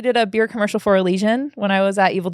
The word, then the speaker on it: Elysian: I actually did a beer commercial for Elysian when I was at Evil Geniuses.